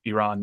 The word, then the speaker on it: Iran: goes, first of all, you're pronouncing our country wrong. It's pronounced Iran, not Iran.